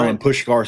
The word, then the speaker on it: Milan Puskar: But both the old coliseum and uh is it Milan Puskar? Is that right? Milan Puskar Stadium, yeah.